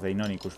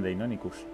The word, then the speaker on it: Deinonychus: A por Deinonychus, ¿verdad?